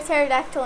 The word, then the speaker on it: pterodactyl: Hey, Miley, why can't you hear a pterodactyl in the bathroom? Because the P is silent.